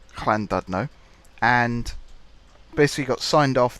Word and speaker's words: Llandudno: friend of mine, who is Welsh, how to pronounce Llandudno, and basically got signed off that, yep, I'm